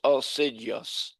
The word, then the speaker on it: assiduous: pronounced u h s i j even though it's spelled as ss I d it's oidious and aidious toastmaster member often makes a good leader.